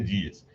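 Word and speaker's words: Diels: E ela diz justamente, ela comenta essa doxografia grega do Dias Hermann Dias, pronúncia Dias, Hermann Dias.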